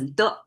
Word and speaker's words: 的: If you learn just a little bit Chinese you can see this character M across the book because most often it's pronounced as D and it's the connect connective tissue almost like by itself it doesn't mean anything.